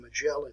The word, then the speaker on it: Magellan: All right, now, where Magellan, and actually his name should be pronounced Magellan, and most Americans do not pronounce it that way. We call it Ferdinand Magellan, but it's actually Ferdinand Magellan.